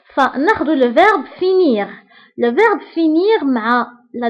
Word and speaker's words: finis: Enfin, nous avons le verbe finir. Le verbe finir, ma la deuxième personne du singulier qui arrive fini. Fini. يعني la terminaison فيها is. وديك s ما كنطقوهاش كنقولوا fini.